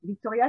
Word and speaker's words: Victoria: personnage de cette femme, Victoire, qui devient Victoria, c'est comme ça qu'on prononce, parce que c'est écrit effectivement Victoria, qui est à la